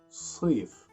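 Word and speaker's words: صيف: Try to make the letter S heavy, and that's why I put letter S between two brackets. Sif, so, not th. Sif.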